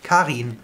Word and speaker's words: Karin: We pronounce the I like an E, so it's like double E. Karin.